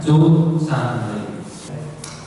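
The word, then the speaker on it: 足三里: Bacanya Cu Sanli.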